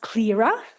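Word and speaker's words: CLRA: corporate law reform alliance which is pronounced clearer if you're wondering how you pronounce that uh and that's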